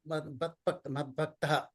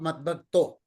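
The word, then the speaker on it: मद्भक्तः: But in some cases, in many such cases, it is pronounced as Manmana Mava Madbhaktaha, not Madbhakto.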